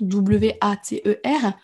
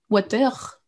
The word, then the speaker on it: water: Pour lui, le R ne se prononce pas en fin de mot. Enfin, en fin de mot, ce n'est pas tous les mots, mais celui-ci, vous n'entendrez pas water, water, comme c'est qu'un R à la fin, mais water.